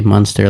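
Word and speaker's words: Muenster: I just say Munster like Freddie Munster.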